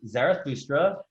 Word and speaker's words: Zarathustra: Zarathustra.